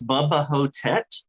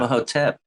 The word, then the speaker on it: Bubba Ho-Tep: Is this Bubba Ho-Tep? But Bubba, how do you spell that?